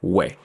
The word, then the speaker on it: wa: in Jamaican is that it loses the T at the end I will pronounce it over recent years though the pronunciation started to morph to sound like way so you have to